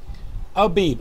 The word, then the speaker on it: Abib: Abib, A-B-I-B. Some people in English, they write A-V-I-V, the pronunciation, and the phonic transliteration in English is Abib, A-B-I-B.